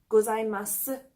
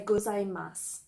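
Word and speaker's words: ございます: even more informal also some people pronounce the extra sound at the end of gozaimasu while others do not and they'll say gozaimasu this is simply a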